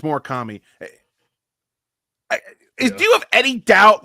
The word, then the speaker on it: Murakami: It's Murakami.